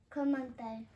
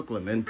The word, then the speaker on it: Clemente: Clemente. That's not how you say it. Mm-mm. That's not how you say it. You got too much gum in your mouth? How you say it? Roberto Clemente.